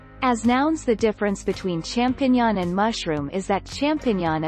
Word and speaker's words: champignon: The singular, champignon, and the plural are pronounced identically in French. English speakers tend to get this word half right, and it comes out champ-o-tilde. Sounds a bit like champion in French instead of mushrooms.